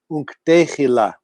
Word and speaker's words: Unk'tehila: And the word that there's some dialectic difference in pronunciation, but the way we say this, we say Unk'tehila.